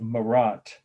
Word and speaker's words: Marat: the artist death of marat that's just like it sounds for the first word in marat the person whose dead body we're looking at is m-a-r-a-t 1793.